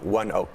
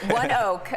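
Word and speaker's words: ONEOK: correct my pronunciation here anok or onok um one Oak one Oak okay it's not that tricky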